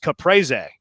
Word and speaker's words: caprese: It's pronounced caprese, says another texter.